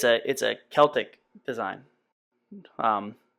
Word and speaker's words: Celtic: It's a Celtic design, and it's pronounced Celtic, not Celtic.